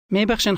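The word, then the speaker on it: ببخشین: Both of these words contain a sound that does not exist in English. Repeat after the speaker, trying to make your pronunciation sound like his. Always speak aloud. Mebakhshin khanam.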